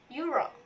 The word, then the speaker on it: Euro: menggunakan Hai Ayu Rock karena Euro itu diawali oleh huruf y Sonia walaupun tulisannya dari huruf x Euro tapi Kita mengucapkannya Euro seperti huruf y next article news for